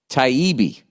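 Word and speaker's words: Taibbi: hate inc uh produced pronounced taibi okay t-i-e-e-b-e-e you didn't capitalize any of it so i don't know where to stress um it's all about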